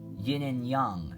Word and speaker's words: yin and yang: Yin and yang, actually. That's how it's pronounced.